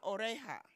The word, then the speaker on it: oreja: magia el nido la oreja the Jay takes the H sound la oreja la boca